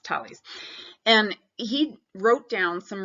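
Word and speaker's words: Thales: mentioned Holly's looks like fail YZ but it's pronounced tallies and he wrote down some really interesting math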